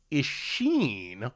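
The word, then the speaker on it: Isshin: I believe the name is pronounced Ishin. Hard E, emphasis on sheen.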